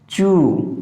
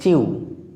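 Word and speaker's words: chew: খেয়াল করো, চু। বন্ধুরা আমরা এটা সাধারণত উচ্চারণ করে থাকি চিউ, কিন্তু এটা হবে চু, উ, চু।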